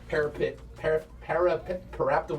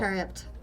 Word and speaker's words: Periapt: Parapta wound closure. I can't pronounce that Okay. word. Period. Period. Oh. Periapt.